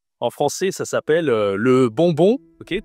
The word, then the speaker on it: bonbon: Toujours le Nasal, on utilise beaucoup, tu vois, c'est très utile dans la dans la nourriture de connaître les nasales parce qu'on a mangue durian et ici le on bonbon.